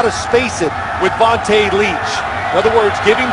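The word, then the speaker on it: Vonta Leach: Vontae Leach.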